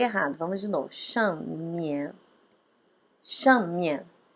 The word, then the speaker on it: 上面: 上面. Veja que 上 também é quarto tom, é tom forte. 上面. Aí no mian a gente dá uma aliviada na hora de pronunciar.